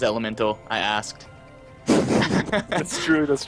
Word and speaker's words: Element4l: some people know it element 4l but the proper pronunciation is elemental i asked that's true